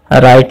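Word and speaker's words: write: जैसे नेट में आपको जी साइलेंट है, साइकोलॉजी में पी, और ऑनर में आपको एच, राइट में डब्ल्यू।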